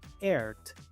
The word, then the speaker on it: earth: Muchos pronuncian esta palabra earth o earth, pero aquí la E y la A son mudas y la TH se pronuncia con la lengua entre los dientes.